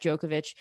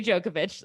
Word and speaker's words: Djokovic: But they were trying to then use like the tennis player Novak Djokovic, and they were like, okay, well, it annoys me when I hear Americans say his name because they just say Djokovic,